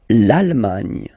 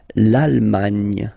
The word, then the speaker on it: l'Allemagne: L'Allemagne. L'Allemagne. Gna, gna, gna, gna. Remember this G and E, it can be quite tricky at the beginning to produce, I mean, the sound gn, okay?